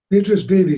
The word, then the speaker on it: Beatrice Beebe: that you met, Beatrice, and how do you pronounce her last name? Beatrice Beebe.